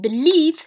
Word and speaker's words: belief: But in belief, stress in syllable is on syllable 2.